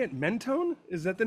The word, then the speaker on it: Mentone: Mentone? Is that the name of the yeah, town? Mentone.